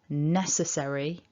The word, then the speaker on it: necessary: So when we say necessary, ness is bigger. And the three blue dots at the bottom just show us that what we're doing is dividing this word into 4 syllables.